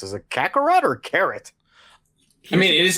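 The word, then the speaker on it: カカロット: Kakaroto. Yeah. Kakaroto. Because everything in Japanese ends in a vowel sound, except for the letter N.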